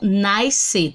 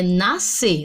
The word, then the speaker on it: nascer: Não é nascer, a palavra é nascer, nascimento, tá certo? Nasceu, ok? Então, percebam que esse SC, eu tenho 2 letras, mas nós vamos ter apenas o som do S.